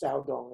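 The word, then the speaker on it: 曹洞: In Chinese, it's Shaodong is pronounced.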